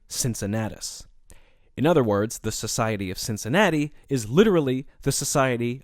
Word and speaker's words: Cincinnatus: In Latin, his name would have been pronounced Cincinnatus with hard C's, but since the name is more familiar in the English language in its anglicized form, with soft C's, I'm going to stick with that pronunciation over the course of this episode.